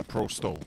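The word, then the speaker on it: Pro100: that's the 100 yeah Pro sto is properly pronounced yes but to the others who don't understand Pro 100 yeah Pro 100 is the actual English translation for the people that don't know store is 100 in russan in any case it's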